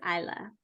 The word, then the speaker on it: Isla: is her name is I'm gonna assume it is Isla i-s-l-a I'm sure that there are other ways you could pronounce it but I'm going with Isla um she is uh